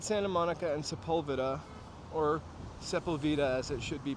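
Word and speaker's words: Sepulveda: so we're at Santa Monica and sepulvida or sepula as it should be pronounced but in Los Angeles they say seula uh I could eat soft serve ice cream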